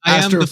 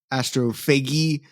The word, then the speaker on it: Astrophage: Actually, it's astrophagy. No, astrophage. Astrophage.